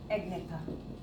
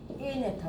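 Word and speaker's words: Agnatha: Division कौन सा आ गया, एग्नेथा। एनेथा, बल्कि एनेथा, जी इसमें साइलेंट रहता है, नेथोस्टोमेटा और एनेथा।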